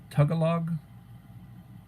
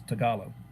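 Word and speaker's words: Tagalog: Philippines uh they've got their native uh tugog my pronunciation is horrible tugog or something to that effect talo talo it's tagalo and uh Mike Crusher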